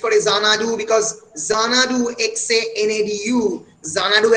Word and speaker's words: Xanadu: Kobir nijer moner je dissatisfaction suggest kore Xanadu because Xanadu XANADU Xanadu actually begins with the word X but amra pronounce korchi Xanadu Z diye.